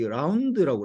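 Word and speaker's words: ∂: D Z D로 읽고 요거는 이렇게 약간 D인데 약간 좀 구부러진 라운드라고 그래. 라운드 Z, 라운드 X 이렇게 읽는다. 라운드라고 읽는다.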